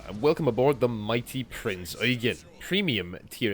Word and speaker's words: Prinz Eugen: welcome aboard the mighty Prinz Eugen, premium tier 8 German heavy cruiser, and yes, that is how you say it. If I hear one more Eugen...